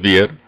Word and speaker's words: vier: That's the way it's pronounced, fear. So whenever you think of four, just say, oh, that's the fear one. It's vier. Sounds like fear.